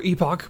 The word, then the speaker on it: Epoch: right hello this is last epic or epoch both of those are technically correct ways to pronounce this so this is an